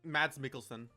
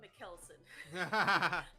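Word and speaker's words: Mads Mikkelsen: Mads Mads Mickelson. Mickelson. Thank you. Because for the longest time I called him Mckelson.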